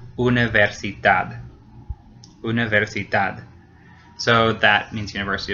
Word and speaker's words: universidad: It ends in a D. So in that case, the very last syllable gets stressed. Universidad.